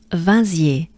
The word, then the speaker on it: Vinziers: So here we have a very common French sound. If you watched the previous episodes, we've been going through many of these, and I'm talking about the sound un, which is, the sound is also, for instance, number one, numéro un, one, un. So here, this is the first vowelish sound of the beginning of this name.